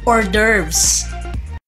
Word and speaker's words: hors d'oeuvres: Ito ay mga small or bite-sized na appetizers na pwedeng iserve ng hot or cold at ito ay binibigkas na hors d'oeuvres.